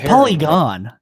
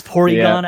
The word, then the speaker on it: Porygon: It's actually, but it's polygon. No, it's not. Yeah. Have you been pronouncing it polygon your whole life? Look at this guy. He doesn't even say polygon. It's Porygon, actually.